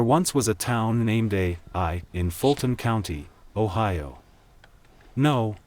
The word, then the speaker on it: Ai: There once was a town named Ai in Fulton County, Ohio. No, that is not a typo. Ai, pronounced as it is spelled, A and I, was founded in the 1840s, and was about 25 miles west of Toledo.